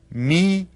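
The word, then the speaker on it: hermano: Spanish my brother is Meo can you say that Meo and you notice that the H is silent when we read that we just read it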